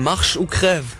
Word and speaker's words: Marche ou Crève: Den spricht man Marche ou Crève.